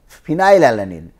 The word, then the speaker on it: phenylalanine: And then phenylalanine, but you have already given P to proline. So phenylalanine, the as if the pronunciation is starts with phenyl. Phenyl means as if you are starting with F.